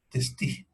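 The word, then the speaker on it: Testut: doctor Testi Morishita, que por si acaso en los libros se escribe Testú, pero se lee Testi.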